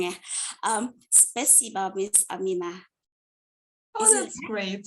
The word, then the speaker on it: спасибо: Spasiba. Yeah. Yes, great. Is it correct pronunciation?